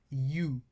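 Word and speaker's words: ευ: I add upsilon to epsilon, and it becomes u as in few.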